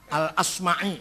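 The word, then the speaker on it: al-Asmaʿi: terjemah dari kitab alimam I quahinawari jangan B Bacanya dinawari jangan addainuri enggak ada kota dainur ad dinawar dinawari Heeh alasm'i enggak ada Asmi asma azzabidi bukan zubaid zabid apalagi jadi jadi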